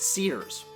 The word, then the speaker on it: Sears: be spell the WI ll is but it's pronounced Sears call me old school I guess after an